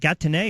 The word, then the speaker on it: Gatineau: I did a boxing event a couple years ago, and they kept telling me I was mispronouncing it the wrong way. I kept saying, is it Gatineau or Gatineau?